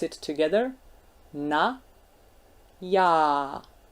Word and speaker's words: já: Na, já. And you can hear that the other one, the second one, já, is a bit longer. That's because of the sign on top of it.